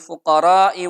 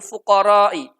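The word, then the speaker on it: فقراء: Salah satu santri tersebut membaca innamas shadaqatu lil fuqara'i. Fuqara'nya itu dibaca pendek, tidak dibaca panjang. Maka oleh Imam Ibnu Mas'ud itu disalahkan. Ketika santrinya membaca innamas shadaqatu lil fuqara'i dibaca pendek, kemudian Ibnu Mas'ud mengatakan seperti ini.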